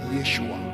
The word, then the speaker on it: Yeshua: which is from Hebrew the word Jesus in Hebrew is been pronounced as Yeshua Yeshua and the word Yeshua